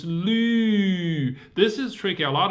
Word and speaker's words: 绿: So 绿, your tongue are touching your lower teeth. 路, your tongue are not touching.